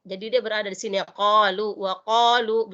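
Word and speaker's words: قَالُوا: Jadi dia berada di sini, qalu wa qalu. Jadi bukan wa qalu, salah. Qalu. Jadi sebutannya qalu.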